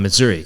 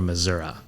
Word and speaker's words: Missouri: the Missouri River, so we pronounce it as Missouri, and it's historically been the farther south you go toward, especially the Ozarks region, kind of straddling the border with Arkansas. The standard pronunciation had long been Missouri.